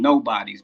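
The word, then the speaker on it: Gnobodies: So I call them nobodies, but it's spelled GNO bodies, like nobodies.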